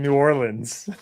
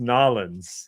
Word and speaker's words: New Orleans: You You keep saying New Orleans. That's why in New Or it is New Orleans. No, it's it's pronounced Nalins.